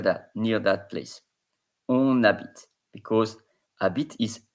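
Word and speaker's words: habite: near that placeit because Abit is h a b i t e and the H is silent in French but this will be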